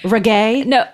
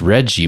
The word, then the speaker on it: reggae: He's like, so I've been reading about this Reggie music.